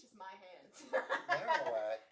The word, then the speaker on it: Marowak: Marowak. Marowak. Oh, I said Marowak. My bad. I can't pronounce shit. Because it's marrow, because it's bone.